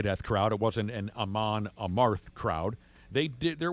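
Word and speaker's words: Amon Amarth: Aman Amarth is how you say it.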